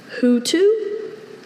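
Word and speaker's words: houtou: Hutu, are there any alternate pronunciations? Only Hutu. Hutu?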